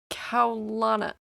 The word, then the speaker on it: Elliana: I'm pretty sure it's pronounced Elliana. It's Hawaiian, and it means majestic.